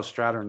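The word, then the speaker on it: Strathairn: that was actually david's david strathan or how do you say his name oh stratton yeah yeah yeah that's right um oh yeah i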